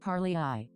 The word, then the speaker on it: Parlay AI: This is also the exact kind of situation where I use Parlay AI, pronounced par-lee-eye, before trusting a trend.